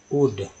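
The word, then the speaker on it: would: जाता है, और WO ULD क्या होता है, वुड।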